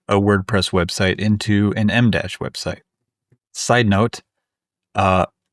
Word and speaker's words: EmDash: trying to convert a WordPress website into an Mdash website. Side note, uh it's Mdash, not EMdash.